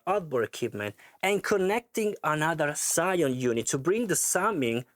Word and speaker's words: SCION: So the Phoenix Audio SCION, which basically I've pronounced wrongly SCION in the test video, sorry for this,